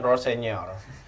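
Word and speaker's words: Rosenior: Gimana bacanya? Rossenior.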